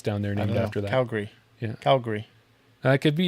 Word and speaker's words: Calgary: it Calgary or Calgary I say Calgary Calgary I got I got Gary like the guy's name you got the Gary like Cal and Gary they've got barbecue sauce